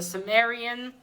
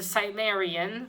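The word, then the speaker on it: Cimmerian: comments uh ish not conan the sim the sumerian thank you to um vivi uh varenji and vigil handy for uh helping me out pronounces that it's the cymerian people of the black circle issue two in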